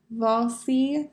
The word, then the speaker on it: Wassily: be 77 years old if you can hear the way that i'm pronouncing his name i'm using a v instead of a w so vol v falsey instead of wall see he grew up in